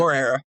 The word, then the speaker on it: Moreira: Is that how you pronounce it? Moreira.